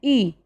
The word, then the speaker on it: cuisine: Cuisine, cuisine. Its pronunciation is cuisine, means fine food.